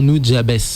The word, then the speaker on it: Nujabes: Nujabes, faut que j'arrête de le prononcer à l'américaine. C'était vraiment en katakana, je crois que ça se prononçait vraiment Nujabes, qui donc a donné